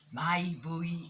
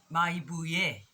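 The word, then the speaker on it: Mayibuye: Maibuyi I Africa. Maibuye, I beg your pardon, Maibuye I Africa. Let's clap that syllable actually. Maibuye. 4 syllables.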